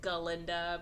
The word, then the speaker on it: Galinda: Her name's, like, Galinda, but the goat can't say Ga. He just says Galinda. So, and they're being microaggressive about it. Anyway, so then she's like, oh my god, Galinda's great.